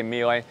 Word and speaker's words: Miele: super automatic brands the miele miele however you want to pronounce it depending on where you are in the world we're going to say melee 6360.